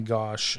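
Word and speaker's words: Gosch: So his name is Johnny Gosh and it's spelled G O S C H.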